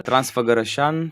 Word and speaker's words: Transfăgărășan: you How do you pronounce it? Transfar. Transfăgărășan, Transalpina.